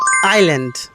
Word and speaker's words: island: Can you pronounce this sound? It's not honest, it's honest. And this one, it's not Iceland. It's island.